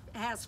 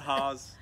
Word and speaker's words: Hass: so uh so it has for sure a lot of people say hazardous a-s-s does not spell Oz yeah it's not Haws it rhymes with pass or mass a-s-s yes yes it's